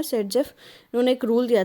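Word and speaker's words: Saytzeff: ये सेट-जेफ, इनकी प्रोनाउंसिएशन है सेट-जेफ।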